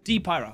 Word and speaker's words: D-Pyro: D-Pyro, thank you.